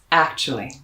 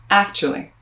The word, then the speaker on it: actually: this word is that that a c t u spelling which could be read you becomes ach so if you want